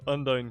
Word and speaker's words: Undyne: own dietician is it she's saying andy kicks is that the mispronunciation yeah not undyne kicks undyne kicks very important distinction no